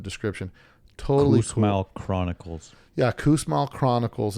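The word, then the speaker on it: Kussmaul: book in the description totally smell Chronicles yeah Coos Mall Chronicles it's called and he was an engineer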